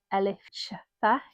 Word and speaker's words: Elif Shafak: So I have picked The Island of Missing Trees by Elif Shafak.